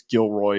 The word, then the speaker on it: Gilroy: cfp by the way not to correct you but I believe it's Gilroy is the pronunciation there just want to make sure that we're we're accurate on that but the way that